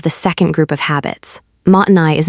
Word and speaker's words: mottainai: There is a Japanese word that has no direct English equivalent, mottainai, pronounced mo-tai-nai.